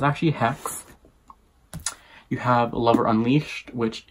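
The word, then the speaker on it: Xhex: You have Lover Mine, which is John Matthew and Hex, which I, for some reason, always thought it was not pronounced Hex. It was Zex, you know, the X,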